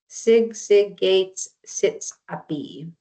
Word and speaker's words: Siksikaitsitapi: Again, the Blackfoot Confederacy is Siksikaitsitapi. Siksika is Siksika. Kainai is pronounced Gainaa.